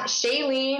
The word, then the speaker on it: Shailene: can we find you online so it is shayen let me spell that s h a i l n e